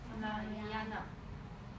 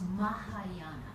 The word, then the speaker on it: Mahayana: And the other one is Mahayana.